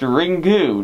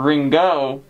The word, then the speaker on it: Ringu: are brought to popularity actually you're wrong it's pronounced ringu not ringo you die oh shoot